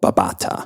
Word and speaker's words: Babatha: Greek which is how we know that it's pronounced with a th with the the Greek letter Theta which also is one